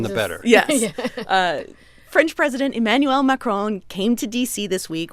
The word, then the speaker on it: Emmanuel Macron: Emmanuel Macron.